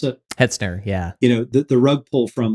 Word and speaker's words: Hetzner: And you guys know this firsthand with was it Hertzner? How do you pronounce it? Hetzner, yeah.